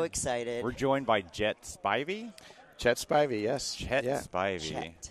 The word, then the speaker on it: Spivey: Spivey.